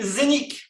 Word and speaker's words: Zeniq: Donc, la compagnie Zénith, d'accord, ça s'écrit Z-E-N-I-Q, a été créée en